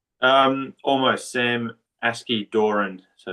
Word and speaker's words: Askey-Doran: the training of the one and only Sam asid Dorian is that correct Sam did I pronounce that right um almost Sam aski Doran so it's it's pretty pretty end well welcome